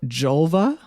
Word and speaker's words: Julva: It's a cream called Julva, which rhymes with vulva, and it is for external use only.